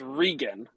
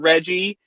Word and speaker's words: Regin: it how do i okay it's regan it's it's just nice short and sweet i promise it's not rain it's not reggie it's just regan and it's not reagan